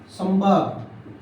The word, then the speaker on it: संभाग: जैसे ये शब्द है संभाग। अब बताओ इस बिंदी को क्या पढ़ा आपने? म।